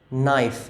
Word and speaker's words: knife: knife good we pronounce the N we don't pronounce the K.